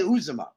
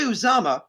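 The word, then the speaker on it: Uzomah: months we now have cj uzuma who cj uzama was sorry was saying it wrong cj uzama isn't even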